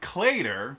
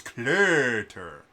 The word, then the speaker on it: Cluter: And our choir director, Professor Cluter, wasn't Clater, which is how most Americans would pronounce his name. It was Cluter.